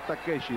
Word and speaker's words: Takeshi: oshi Ah bueno pero en japonés se pronuncia takeshi doctor pero es que